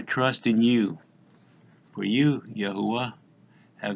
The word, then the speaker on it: Yahuwah: Yod, He, Wah, He, pronounced Yahuwah.